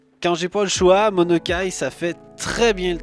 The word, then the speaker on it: Monokai: Monokai qu'on va pouvoir écrire comme ça se prononce, M-O-N-O-K-A-I, et il ressemble à ça.